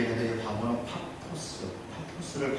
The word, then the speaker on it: 파포스: 있고 이쪽에 뭐 바보 이렇게 돼 있는데 바보는 파포스 파포스를 바보라고 발음을 바보같이 진짜 여기에 이제 뭐가 있냐면 집으로